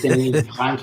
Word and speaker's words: Denis: By the way, it's Denis with a silent S because he's Canadian and French. Yes, Denis.